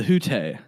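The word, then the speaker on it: Hütte: Yeah, and I mispronounced it on the podcast, and you corrected me, because I did. I just called it the hut.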